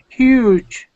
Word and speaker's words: huge: have the word huge huge good so yes class pay attention this u sound is an EU e sound so we say huge and we do pronounce the h huge one more time